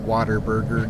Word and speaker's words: Whataburger: Although in Texas the pronunciation is usually like Waterburger, though, even though it's stupid for saying it that way. But that's just how everyone says it, Waterburger.